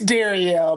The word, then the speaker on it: Darielle: It's It's Darielle. But I go by Daryl cuz it's easy.